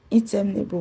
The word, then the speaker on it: interminable: The incapable will be stressed on CA, while interminable will be stressed on TER.